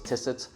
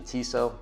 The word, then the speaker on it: Tissot: Uh, even with my Tissot, I thought it was Tissit, but it's actually Tissot.